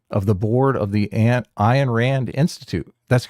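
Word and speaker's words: Ayn: Rhymes with mine.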